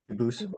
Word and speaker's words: Dubus: They do pronounce it dubis, but you said you pronounce it dubus as the original dubus as the original French. Yep. Very well. Duboose.